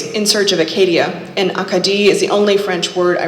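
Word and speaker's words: Acadie: Akadi. I repeat the unfamiliar pronunciation. Akadi, putting the emphasis in different places than the English Acadia I'd been using.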